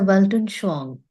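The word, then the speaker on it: Weltanschauung: placed philosophically it is said Freud is a welon Shang and that is how we pronounce the name yeah what it means is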